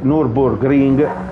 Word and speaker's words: Nürburgring: fatto imparare che sì, il Nürburgring si dice Nürburgring e Nordschleife, con la, in teoria lui lo dice con l'accento tedesco, ma io non ce l'ho.